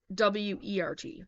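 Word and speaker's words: wort: and flavorings before fermentation pronounced word Wert that's how it's pronounced all right number one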